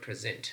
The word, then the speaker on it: present: functioning as a verb the stress pattern is on the second syllable but present is functioning